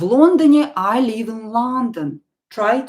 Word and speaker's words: Лондоне: Stress the first syllable here. This is a very common mistake that my students sometimes make, especially when they didn't start learning Russian with me. They learned to pronounce the words incorrectly with the wrong stress. So here, Лондоне, the first syllable is stressed.